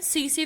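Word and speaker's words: tsetse: Salivary जो gland है, सीसी फ्लाई होती है, सीसी मक्खी भी बोलते हैं उसे. ठीक है, टी साइलेंट रहता है, तो उसके सेलेवरी ग्लैंड में होती है.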